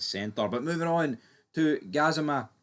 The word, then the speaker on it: Gassama: But moving on to Gazima or Gazim, I don't even know. It's Gazam. I believe that's how you pronounce his name.